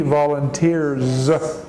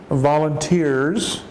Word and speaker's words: volunteers: once a week he volunteers but we pronounce the S in this case it's a Z sound they he volunteers oh my mistake